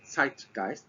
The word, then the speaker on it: Zeitgeist: I'm married to a German so the correct pronunciation is actually TI gist tight being time and gist being ghost so